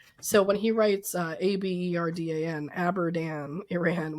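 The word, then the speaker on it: Abadan: So, when he writes uh abdan Iran, what he means is Abdan, which is exactly at that point where the photos and the um the story is going to tell us. So, Andrew is pronouncing it correctly. Lou in the letter is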